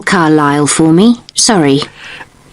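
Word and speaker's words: Carlisle: 45 Carile Way. Could you spell Carlile for me? Sorry, it's C A R L I S L E. You don't pronounce the S. Carlile way.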